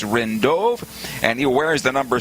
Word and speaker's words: Rindove: The other one I want to tell you about is Chris Rindove. I mentioned in the first segment that it's Rindov. No, his pronunciation to his last name is Rindove, and he wears the